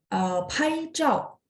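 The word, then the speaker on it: 拍照: Kayak tadi pai zhao, zhao ZHAO ya. Jadi bersih, bersih nggak ada angin. Pai zhao bunyinya C, C-A-O ya, zhao.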